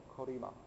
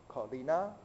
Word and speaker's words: Colima: Colima. Colina?